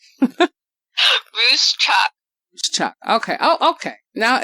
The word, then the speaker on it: Ruscsak: Now it's supposed to be Ruscsak, but I can't say it properly, but let me give her wonderful intro.